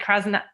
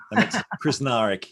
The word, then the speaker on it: Krznaric: to say it right krasnath krasnarick i don't know why i'm danish i normally can do any any words but that was pretty close you just say every letter without fear chris narick yes um to our